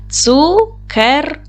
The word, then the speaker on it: цукерки: Ділимо на склади. Цукерки. Наголос падає на другий склад.